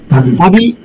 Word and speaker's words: 度: 要注意，塔比的读音等于旅行的这个读音，塔比。